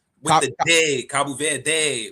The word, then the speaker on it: Cabo Verde: Cabo Verde. Cabo Verde.